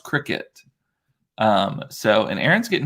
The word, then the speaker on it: Cricut: to the cricut so i thought it was cry-cut and i was like okay so i'm going